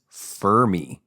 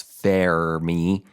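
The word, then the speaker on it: Fermi: the American pronunciation is fery fery that sounds like Furby and then the British pronunciation is FY FY f f you but the Italian pronunciation is and I've been calling it The Fairy Paradox Fair me Paradox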